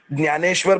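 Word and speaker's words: ज्ञानेश्वर: वो होता है परमेश्वर नहीं लेंगे न्यानेश्वर बोलेंगे हमारे दुर्गा सप्तशती की कक्षा में भी हमारे योगेश गुरुजी इसके ऊपर बहुत ध्यान देते हैं ज्ञान बोलेंगे न्यू बोलेंगे ऐसा बोलेंगे और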